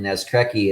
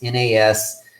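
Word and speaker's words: Naskrecki: It's Piotr for Peter, and then Nescrecki is Nascrecki.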